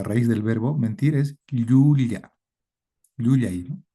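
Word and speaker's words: llulla: Pero a veces la Y en algunas zonas está doble ya, doble L, ¿no? En la que la lengua choca con el paladar, ya el aire sale por los costados de la lengua. Ya, ya. Hay un contacto del paladar con la parte media de la lengua. Entonces, hay que pronunciarla así en el en el quechua.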